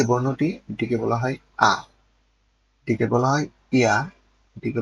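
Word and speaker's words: ㅏ: এই বর্ণটির উচ্চারণ হচ্ছে আ। বাংলাতে আমরা স্বর আ অথবা আকারের যে উচ্চারণটা করে থাকি, বাংলাতে আমরা স্বর আ বা আকারের যে উচ্চারণটা করে থাকি সেই আ।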